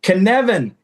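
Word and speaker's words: Cynefin: The Knevan. It rhymes with Kevin.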